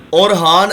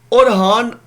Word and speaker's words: اورحان: اورحان آپ جس طرح اور لکھتے ہیں نا، اور سناؤ کیا حال ہے، اور لکھ کر آگے خان لکھ دیں. جزاک اللہ سر. اچھا، اورحان کی ایک اہم بات تھی اور وہ رہ گئی ہے.